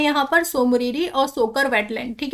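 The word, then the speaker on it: Tso Moriri: देखिए इसमें जो है स्पेलिंग जो है टी से शुरू हो रही है, लेकिन हम लोग इसको प्रोनाउंस करते हैं तो सो मोरिरी बोलते हैं, राइट। सोकर वेटलैंड कॉम्प्लेक्स, ठीक है। तो यहाँ पर याद रखिएगा कि टी जो है यहीं से ही याद हो जाना चाहिए आपको, ये लद्दाखी है और लद्दाखी में ऐसे ही बोला जाता है, स्पेलिंग आपका प्रोनाउंस करने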